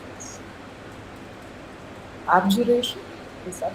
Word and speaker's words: abjuration: to be of, I don't know how to pronounce this. Abjuration? Is that how you- Abjuration.